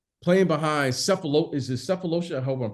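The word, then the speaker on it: Sefolosha: off your bench playing behind cephalo is his cephalosa I hope I'm pronouncing his career yeah it's a felosia for okay uh so you had a guy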